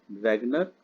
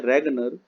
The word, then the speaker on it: Ragnar: किया, नॉर्वे के थे अर्थशास्त्री रेगनर fish, RAGNAR, रेगनर, spelling है FRISCH, लेकिन हिंदी में लिखते हैं रेगनर, रेगनर फिश, हिंदी में ऐसे लिखते हैं।